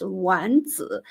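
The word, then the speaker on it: 丸子: As for meatballs, the Chinese pronunciation is Wanzi. The first word Wan sounds the same as the word for end in Chinese, which is Wandan.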